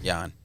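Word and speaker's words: Yan: Peter got it or how do you pronounce this yeah it's yawn um but his his first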